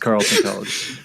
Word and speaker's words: Carleton College: Oh, yeah, it's just pronounced Carleton College.